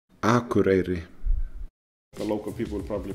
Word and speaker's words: Akureyri: Akureyri. Akureyri. The local people will probably pronounce it a little bit differently.